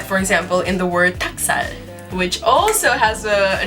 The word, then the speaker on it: 닭살: You're just like, So yeah, 닭살, 닭, it has an L in it, but it's not really being pronounced.